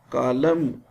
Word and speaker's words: column: Column, N is silent.